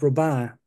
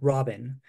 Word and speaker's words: Robin: this this is pronounced robah not Robin because the mathematician is named after was French Gustav roban who was